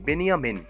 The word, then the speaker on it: বেনিয়ামিন: Benjamin নামটিকে আরবিতে উচ্চারণ করা হয় বেনিয়ামিন।